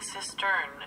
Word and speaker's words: cistern: that's mostly affected, and when I'm saying cistern, it's spelled C-I-S-T-E-R-N. I realize it probably sounds like I'm saying sister, like a brother and sister.